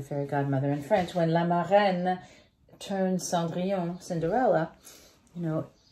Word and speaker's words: La Marraine: It's the magical scene when La Marraine, which is how you say the fairy godmother in French, when La Marraine turns Cendrillon, Cinderella, you know, the magic of